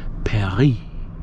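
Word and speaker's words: Paris: And she says it's pronounced Perry with a little trill.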